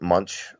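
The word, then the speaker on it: Moench: And all the I don't want to say the old guys, all the veterans that I know pronounce it Munch.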